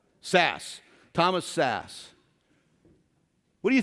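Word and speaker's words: Szasz: Sass.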